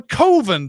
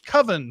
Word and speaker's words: Coven: regulars the tremendously over-the-top Robert Richard George tells him it should be pronounced like coven usually is but Mark rejects that on the grounds that it sounds like oven Mark tells us his